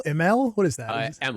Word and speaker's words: Imel: I always tell people pronounce it like you don't want to try and pronounce it. Uh so it just kind of rolls off the tongue a little. Emmel like you give up halfway.